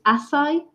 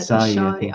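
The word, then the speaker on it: Asahi: so I kept pronouncing it wrong completely because it's Asai, but I said Ashai because I think it's spelled similar.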